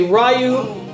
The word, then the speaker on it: Ryu: It's Ryu or Ru. It depends. People say Ryu, Ru, Ryu. When I hear in the Japanese anime and they say his name, they say Ryu.